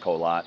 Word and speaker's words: Korat: the city of colat k o r a t pronounced colot here locally um uh that that's